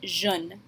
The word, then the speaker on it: je ne: It will always be written this way, but you can kind of combine the je and the ne a little bit when you say it and pronounce it jeune.